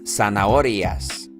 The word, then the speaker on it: zanahorias: uvas las uvas las zanahorias last zanahorias don't forget that the Z is pronounced like an S and don't forget that